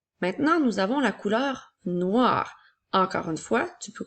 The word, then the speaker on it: noir: rajoute la lettre E au masculin nous avons noi qui fait le son wa et la lettre R a noir comme dans la phrase le ballon est noir et au féminin nous